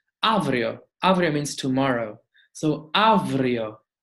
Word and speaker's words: αύριο: Whenever we have a epsilon, alpha epsilon, like in avrio, it will pronounce as an v, avrio.